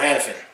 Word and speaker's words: Hanifin: don't familiar with all the players and you pronounce names. So Noah Hanifin. It is Hanifin now.